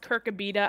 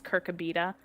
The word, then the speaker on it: Kirkabita: And it is supposed to be pronounced Kirkabita. I did go back on DevStream 10 to see how they pronounced it, and Sydney did confirm that it is Kirkabita.